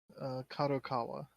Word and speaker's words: Kadokawa: Kadokawa.